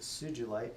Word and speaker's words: sugilite: Lovely sugilite, or sugilite, but we pronounce it sugilite.